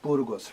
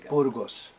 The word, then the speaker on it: Burgos: And Burgos, right? Yeah. Yeah. Is it pronounced properly? And Burgos. Burgos.